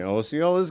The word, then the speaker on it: Osceola: I've heard that pronounced both ways too. Osceola, Osceola. Osceola. I don't think you can go wrong with either one as long as you get the Ciola part right.